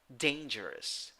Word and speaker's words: dangerous: nine letters eight sounds three syllables the first syllable is the one that is stressed in the first syllable you have a with a hat ah i know sorry day a hey hey what am i talking about a a yes i'm sorry yes a so and the second and third syllables uh have schwa a neutral sound dangerous dangerous dangerous number